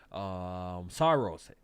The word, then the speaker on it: Saros: That's how you pronounce it, right? Oh, Saros, yes.